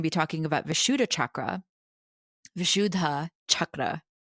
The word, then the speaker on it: Vishuddha: Vishudha chakra to say it correctly because the H is aspirated.